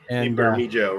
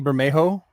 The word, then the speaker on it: Bermejo: Yeah, Lee Bermejo, right? Yeah, Lee Bermejo. You're probably saying it right. I think the J is an H.